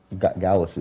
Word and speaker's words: Gowasu: It was Gowasu who said, "Let him scrap." And which he agreed. Gasu, that's how you say his name.